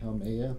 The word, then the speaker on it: Haumea: The dwarf planet Haumea, probably pronounced that way.